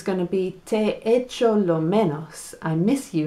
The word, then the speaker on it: echo: And it sounds the same, but the spelling es un poco diferente. Te echo lo menos, echo is spelled E-C-H-O. But what we're studying esta semana, starting today, is hecho, which is spelled H-E-C-H-O. And it means fact, deed, done, or made.